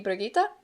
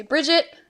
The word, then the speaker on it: Brigitte: So I give her the German pronunciation, which would be Brigitte. Some people just say Bridget.